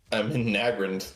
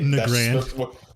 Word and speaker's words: Nagrand: Nagrand. Yeah, but I've just been calling it Nagrand since like I started in 2009. What's it supposed to be called? Nagrand. Nagrand. The two syllables are not in grand.